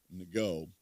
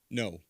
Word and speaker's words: Ngo: No, it's just no. I know it's spelled NGO. Is it no? It's just no.